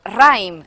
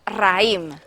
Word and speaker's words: raïm: és a dir, L'efecte de la dièresi sobre la i és allargar la vocal. Si no tingués dièresi, pronunciaríem raïm, en compte de raïm.